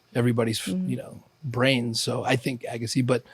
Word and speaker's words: Agassi: Armenian, like real authentic version of the pronunciation is Agassi, but Americans call me Agassi or Agassi. I think Agassi sounds more closer to the original.